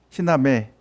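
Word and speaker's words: ἵνα μή: 그 액센트가 오른쪽으로 꼬부라지면 발음이 H 발음 난다 그랬죠. 찾았습니까? 희나매 찾았죠?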